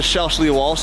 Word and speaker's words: Shelsley Walsh: So today is the drive to Shelsley, Walsh.